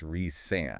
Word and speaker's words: Rhysand: And I always make sure to pronounce that correctly for our listeners. It's Rhysand.